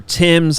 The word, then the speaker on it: Thames: A private boat cruise on the River Thames. I remain the only person on the show that pronounces that correctly.